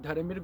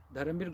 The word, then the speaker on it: Dharambir: Let me spell it: Dharamir, DHARAMBIR. It's not V, it's B for Bombay. Dharamir.